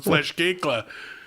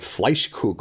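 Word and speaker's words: Fleischkuechle: ] stab somebody from flesh cake that's how that's pronounced yeah that's how i've always pronounced that yeah i i'm as an outsider to that part of i always thought it was like fleischkoogle or something like that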